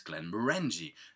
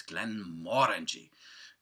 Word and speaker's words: Glenmorangie: It's a Glenmorangie. Now, I know many people go like, what? It's Glenmorangie. No, it's not. It's Glenmorangie. If you ever go to Scotland, you'll find out. They will tell you.